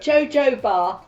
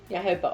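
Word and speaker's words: jojoba: able to say it JoJo bar it's JoJo bar JoJo Bar Oil I know that's not how you say it it is yoob oil Yoba oil um and avocado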